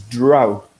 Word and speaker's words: drought: Alex pronounced it correctly earlier on. This is drought.